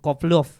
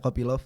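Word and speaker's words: Kopylov: kalau anthoni Hernandez sama Roman kovlov ya kopyov kopyov bacanya gitu ya kopyov Ini tuh pengganti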